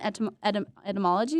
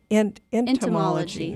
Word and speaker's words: entomology: And we know that you have an interest in etymology. Is that how you say it? Etymology? Entomology. There we go.